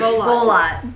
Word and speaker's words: Bolotte: Bolot. Barbara. If you Spell that for the listeners.